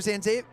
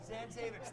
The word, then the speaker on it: Zanzavich: And it's starting to get a little chippy in there, but Zanzave. Oh, I lost it. Give it to me again. Zanzavich. Thank you. I was putting the emphasis on the wrong syllable.